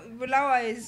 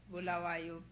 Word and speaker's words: Bulawayo: No, Bulawayo is pronounced with a silent B. Bulawayo.